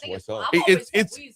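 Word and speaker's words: Wiesel: Is it Weasel or wasel? Weasel. Eli is the right pronunciation.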